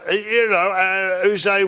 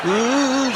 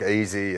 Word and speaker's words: Yze: Is it Yze? Yze, I think it is. We were a tolerant nation. What's the most ridiculous pronunciation of your name that you've ever heard in all your years? We copped a few, like Easy and and whatever. But? Just spelling it out phonetically.